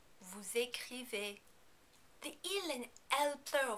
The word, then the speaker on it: vous écrivez: In the vous form, you also need to pronounce the final S because écrivez begins with a vowel. Also, remember that the EZ combination is pronounced as A. Vous écrivez.